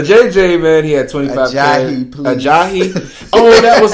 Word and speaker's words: Ajayi: And I was like, it's Ajayi. I said it right. And I come over here and say a JJ.